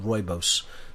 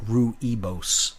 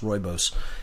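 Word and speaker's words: rooibos: it's spelled r-o-o-i-b-o-s pronounced roibose looks like roo-ebose but it's pronounced roibose and it's just it's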